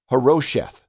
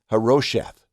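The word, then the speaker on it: Harosheth: And so we say the name huh-ROH-sheth, huh-ROH-sheth, huh-ROH-sheth.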